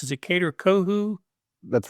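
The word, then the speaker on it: Kader Kohou: Help me pronounce. Is it Kader Kohu?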